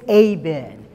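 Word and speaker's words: אבן: meant and the hebrew word for stone is aben it's spelled e-b-e-n but it's pronounced a b e in abend it is made up of two separate words ab meaning father and then meaning son the stone aven is the hebrew in hebrew means the father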